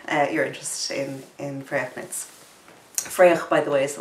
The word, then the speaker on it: Fraoch: so much for your interest in in fragments Freya by the way is the way you pronounce it I know Sam had difficulty so